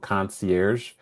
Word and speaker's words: Concierge: And so that's where I kind of geeked out and created this company called Concierge. It's pronounced like a hotel concierge, but it's got a little bit of a twist.